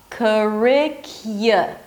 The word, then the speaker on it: curricula: Curricula. Y. Don't skip the y sound. Curricula, it's a y as in yes, and then a schwa.